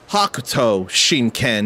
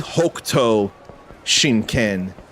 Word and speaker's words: Hokuto Shinken: For whatever reason, the martial arts was always pronounced Hakuto Shinken in the anime. But I've heard it said to be Hokuto Shinken in City of the Wolves.